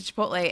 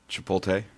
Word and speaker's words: Chipotle: Chipotle. Chipotle. You know the L comes after the T.